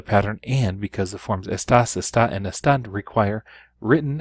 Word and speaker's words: está: Usted, él, and ella would be está, and there is a written accent on the A.